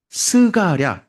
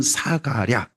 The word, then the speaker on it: 스가랴: 그 이름이 스가랴 또는 사가랴 상관없습니다. 스가랴, 사가랴 같은 사람입니다. 발음이 좀 다를 뿐입니다. 뭐 맹주나 명주나 똑같지 않습니까? 어 다른 사람 말한 거 아니지습니까? 그런 것처럼 스가랴 사가랴 딴 사람이 생각하시면 안 됩니다.